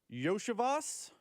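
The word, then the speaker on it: Iosivas: you pronounce his name I'm reading with the text line said yosias so Andre yoas he was their second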